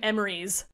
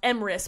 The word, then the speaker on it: Emrys: I called him Emrys. Like, I think I went back and forth. Name, as if his name was spelled E-M... E-R-I-E-S, even though that's not even how it's spelled, Emrys. That's how I pronounced it. And it wasn't until I was today years old that I even considered it was pronounced Emrys.